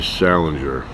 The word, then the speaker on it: Salinger: out and harming anyone J D Salinger soft G like giraffe but I recommend this